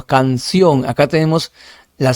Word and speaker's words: canción: Canción. Cancio, no, canción.